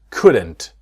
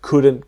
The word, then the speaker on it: could: We couldn't go tomorrow and could we. It's the same with the modal verbs, right? I will see in the next video with would. It's exactly the same same situation. The L is silent.